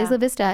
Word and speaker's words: Isla Vista: Uh the story coming out of uh Santa Barbara or small community, Isla Vista, I believe is how it's Yeah, Isla Vista is how it's pronounced.